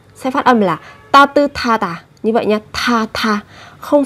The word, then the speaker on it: 따뜻하다: âm tiết, kết thúc là một phụ âm sờ, theo sau của nó là một âm tiết bắt đầu bằng phụ âm hờ, thì hai cái âm này sẽ được kết hợp với nhau phát âm thành thờ, sẽ là 따뜻하다, 따뜻하다 và 못하다 hoặc 깨끗하다.